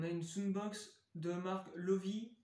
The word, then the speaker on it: Loewe: une Soundbox de marque Lovi, ou Lowy, je sais plus. Lovi, donc c'est une marque allemande, hein, je sais pas si vous connaissez. Ça s'écrit Loewe.